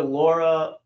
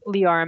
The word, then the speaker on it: Leora: Let's go to Laura Malak. Laura? Yeah. Hi, I'm Leora Malik. I work with Vanguard Renewables. Thanks, Leora. Sorry I got your name wrong.